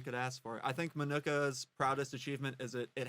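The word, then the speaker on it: Minooka: Jackie is from some Hodunk town called Manuka, Illinois. You pronounced it greatly there. Manuka.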